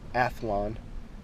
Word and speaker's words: Athlon: Athlon 6-24 by 50 Argos BTR.